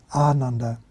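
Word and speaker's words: Ānanda: about the Buddha disciple Aranda it's pronounced with the emphasis if not twice the length see the first a has a bar over it aand actually if we say with a short a like we probably used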